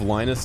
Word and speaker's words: Linus: This whole 5-minute conversation happened because Linus rhymes with vaginas.